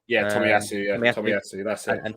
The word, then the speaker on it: Tomiyasu: Yeah, Tomiyasu.